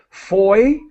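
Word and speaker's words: foyer: I would say try to copy the French pronunciation Foy like boy Foy with the yay at the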